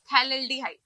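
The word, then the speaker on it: phthalaldehyde: ये हुआ हमारा थैलेल्डिहाइड, तो इसकी स्पेलिंग में we have a little correction, इसको हम बोलेंगे थैलेल्डिहाइड।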